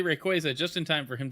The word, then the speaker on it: Rayquaza: This is something that came out of Pokemon Worlds, but uh Pokemon Company confirmed Rayquaza is pronounced Rayquaza after many years of fans saying it wrong.